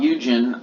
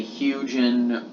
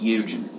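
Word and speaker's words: Hugin: So it shouldn't be expected, and not only that, but Bob Eugen, I think that's how you say his name. I don't want to say Hugen or Huggin, or I think it's pronounced Eugen.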